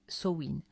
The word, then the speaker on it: Samhain: Le 2 novembre trouve ses origines lointaines dans la fête celtique de Samain prononcé Soin.